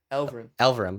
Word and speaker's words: Elverum: Elverum.